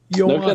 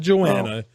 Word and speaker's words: Joanna: As I learned this week when I interviewed her, it's Joanna, kidding. not Joanna. We Americans despicable Swine. people. Look We at do you not pronouncing anyone's names correctly.